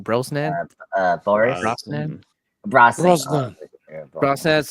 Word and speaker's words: Brosnan: How do you pronounce his last name? Brosnan.